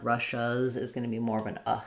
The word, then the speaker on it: Russia's: So for Russia, in English, we say this with the SH sound. It's first syllable stress, Russia. And then if I add the apostrophe, then it just adds a Z sound. So it sounds like Russia's. Russia's. And here my is going to be long and stressed. Here it's going to be short and reduced. Shas, Russia's. It's almost like no vowel there at all.